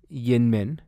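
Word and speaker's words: YInMn: it's like big business and it's pronounced Youngman it's yet reom indium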